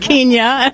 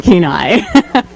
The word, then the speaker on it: Kenai: to the radio because you can always tell the new announcers by the way they pronounced the local place names like mental chick and Kenya it's an Anil chicken Kenai and they always call